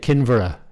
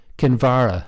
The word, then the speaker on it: Kinvara: "We are staying at Kinvara." His emphasis was on the first syllable. "Is that right, how to say it?" "Kinvara," said his father, putting the emphasis on the second syllable.